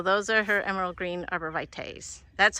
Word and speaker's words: arborvitae: It's not T-E-E, even though it's pronounced T-E, but why didn't they just spell it that way?